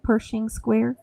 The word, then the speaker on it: Pershing Square: I'm going to say my favorite meal was in Pershing Square. We had breakfast there. Is that how you say it? Pershing Square?